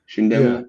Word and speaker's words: Chindamo: that last name, and it's just pronounced exactly how it's spelled. It's said the same way it's spelled. And people put an SH on the front of it for some reason. Chindamo is what it is.